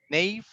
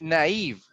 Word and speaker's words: naive: uh erwin next yes nate nave okay we're gonna practice that actually this pronunciation is a naive very naive okay next pragmatic